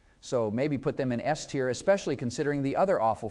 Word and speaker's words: S tier: In that case, maybe A tier or quite possibly steer. Did you really just say steer instead of S tier?